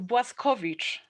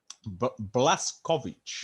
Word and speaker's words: Błaszkiewicz: It's Błaszkiewicz. Błaszkiewicz. No. Błaszkiewicz. Błaszkiewicz. Yeah, perfect. Bang on.